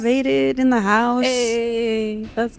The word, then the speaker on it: MotaVated: the Beast podcast m vaded in the house hey let's go how do I say it m m vaded vaded like motivated motivated vaded v a t e d vaded okay oh make